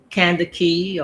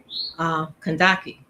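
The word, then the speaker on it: Kandake: Some people call it um, Kandaki or Candaces, which was in the Bible. I like my spirit, my soul, my divine self is tells me to pronounce Kandaki.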